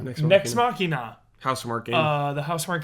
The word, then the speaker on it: Nex Machina: Next Machina. Nex Machina.